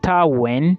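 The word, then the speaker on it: Wien: University of Vienna in uh German it is pronounced as univers when when is w i e n okay and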